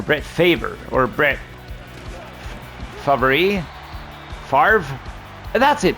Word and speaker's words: Favre: Favre. That's it. People always say Brett Favre. But it's written F-A-V-R-E, right? So where does that pronunciation come from?